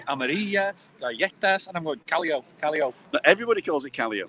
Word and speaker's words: Callao: Callao. Callao. With a little Oh, it's double L. Callao. Of Two course it Ls, is. isn't Callao. Callao.